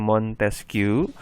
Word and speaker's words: Montesquieu: Tapi kalau untuk ini tokoh-tokoh revolusi Prancis di sini kayak Montesquieu ya, dibacanya Montesquieu.